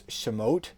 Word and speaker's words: Shemot: exodus or in hebrew it's shemot and it's written as um shemoth samoth again i